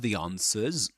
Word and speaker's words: answer: The answer with this long R sound. The answer. Answer. The answer. The answer. Without pronouncing the final R, because there's no vowel sound right after it, right after that final sound in the word.